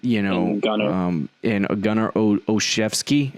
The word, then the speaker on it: Gunnar Olszewski: They're going to go young with N'Keal Harry and Jacoby Myers and Gunnar Olszewski.